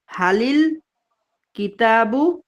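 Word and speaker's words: هلِ الكتابُ: ইয়াটায় জের চলে আসে এজন্য বলতে হবে যেহেতু আলিফ লামের এই আলিফ লামটা উচ্চারণ হয় না এজন্য হালিল কিতাবু জামিলুন অর্থটা কি হবে বইটি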